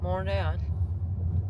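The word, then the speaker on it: Montréal: Mon değil ama olsun Toronto'da Toronto diye okunuyormuş toron diye okuyormuş Biz on Toronto demeye devam ediyoruz tler genelde atılıyor Hani tono monreal kebek Allah'tan kebek yani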